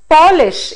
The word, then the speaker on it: polish: the meaning changes similarly if you say polish it is a shoe polish that we have again a noun form but then if we